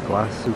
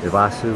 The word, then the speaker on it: Iguazu: hotel here on a vasu Falls or vasu or wasu whatever how they pronounce it here I think they don't put the G in somehow we just did